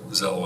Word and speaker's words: Xello: Well, Z sound out of an X, that's.